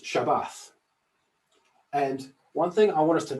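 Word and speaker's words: שבת: that's this word here pronounced shabbat and one thing i want us to notice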